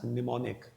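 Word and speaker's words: mnemonic: will be pronounced as pneumonic M will be silent here okay then coming on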